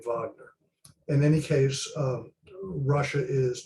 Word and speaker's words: Wagner: Wagner group out and it is pronounced Wagner because they were named